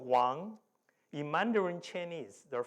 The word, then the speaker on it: Wang: So my last name, if you say it properly, is this one, Wang. Okay. So if you say Wang, no, it's wrong, right?